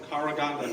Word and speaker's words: Karaganda: Gennady might be from Karaganda, Kazakhstan.